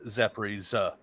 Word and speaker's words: Zaporizhzhia: So, for instance, the city Zaporizhia. But it's not a hard J like J, Zaporizhia. It's just Z. Zaporizhia. Zaporizhia. Zaporizhzhia. Zaporizhzhia. Yeah, like a ZS kind of sound.